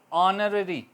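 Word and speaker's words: honorary: ऑनररी, ठीक है, H silent रहा।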